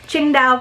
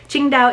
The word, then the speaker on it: Qingdao: gonna tell us all about the different items Qingdao pronounced Qingdao Mandarin is a port city tucked in China's